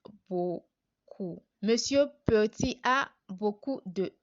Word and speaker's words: beaucoup: So we have our B plus this sound O gives us bo, and then our ku, we have our C plus OU, which is the U sound that we've learned previously. So when we pronounce everything together, it gives us beaucoup.